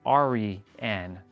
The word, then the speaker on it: Aryan: He's like, it's not Aryan, it's like Ari-an.